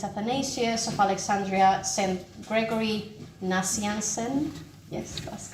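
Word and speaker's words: Gregory Nazianzen: were um St athanasius of Alexandria St Gregory nansen yes that's correct pronounciation St John christom um and St Augustine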